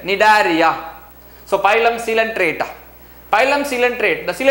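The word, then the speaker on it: Cnidaria: is different pylon sealant other name is nidaria sea silent nidaria so pylon sealant pylon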